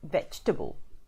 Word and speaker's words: vegetable: pronounce it correctly as vegetable so it's only three syllables hang on turn pull